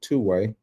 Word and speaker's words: 2WaI: So, uh want to address, uh this new app that I saw is called Two-way. That's how it's pronounced.